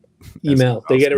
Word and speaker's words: Hymel: uh we can go with heiml it's actually pronounced email Louisiana so French to base name um but I've gone by heimel for forever because it gets to a point